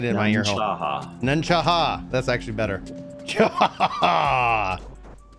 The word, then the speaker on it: Nunne-Chaha: Nunne-Chaha.